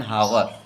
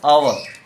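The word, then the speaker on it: hour: Been reading for एन हावर, एन हावर, एन आवर, हावर नहीं बोलते, हावर नहीं बोलते, आवर, तो एच साइलेंट हो जाएगा, ओ से वावेल, तो एन आवर के पहले ए नहीं एन लगाना है जी।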